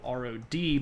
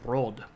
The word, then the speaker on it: Rod: And his name is just spelled R-O-D, but it's pronounced Rod. And there is sometimes the rolling R, sometimes it's just Rod, and sometimes you actually